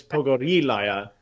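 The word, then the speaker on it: Pogorilaya: differently okay so she how do you pronounce is it Pogo relay are you because I okay over her a liar but it's poco de liya okay why is honor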